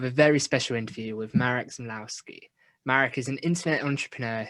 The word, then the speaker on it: Marek Zmyslowski: Marek Zmyslowski. I actually pronounced his name correctly in the thing.